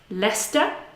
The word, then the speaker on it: Leicester: So Leicester Square, we can transcribe like this: Leicester, Leicester Square.